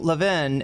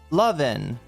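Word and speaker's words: Levin: Am I putting the accent on the wrong syllable? Levven. Um, like loving, but love loving. So, I'm doing Lavven and it should be Lovven.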